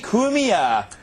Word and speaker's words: Cumia: and with us for the first time Anthony kumia did I say it right yes you did